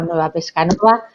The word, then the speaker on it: Nueva Pescanova: Ella es directora general de comunicación de Grupo Nueva Pescanova. Con el acento en Nueva, pues Tessa se incorporó